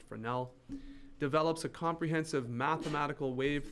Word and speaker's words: Fresnel: neat things to happen augustine fresnel or fresnel i guess really should be pronounced fresnel develops a comprehensive mathematical